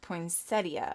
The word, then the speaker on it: poinsettia: plaid check and it's actually called poinsettia you spell it poinsettia but it's pronounced poinsettia i hate it when